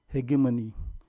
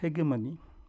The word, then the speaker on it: hegemony: The term hegemony, or as I normally pronounce it as hegemony. Shall I proceed with hegemony or hegemony? Or both? Okay. I mean, the dictionary says hegemony. I say hegemony. But we will call it hegemony because, after all, English